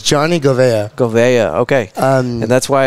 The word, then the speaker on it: Govea: It's Johnny Govea.